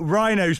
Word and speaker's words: Wrynose: Well, we've got Rhinos Pass, which I always used to be thought was spelled like rhino, like the animal, but it begins with a W cuz, of course, Cumbria spelling.